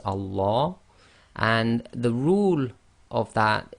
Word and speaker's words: Allah: And the ruling is, whatever the sound is before the lam of Allah, i.e. the shaddad lam, if it's a fatha, as we would read it in this case, then the lam of Allah is read as tafkhim. And remember, the tafkhim sounds are heavy, i.e. full mouth.